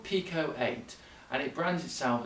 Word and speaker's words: Pico-8: works by the way I keep trying to call it Piko eight as it's about P ICO but it's as you pronounce to Pico not FICO so if I say